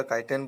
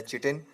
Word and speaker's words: chitin: कई जगह काइटिन बोला जाता है, कई चिटिन.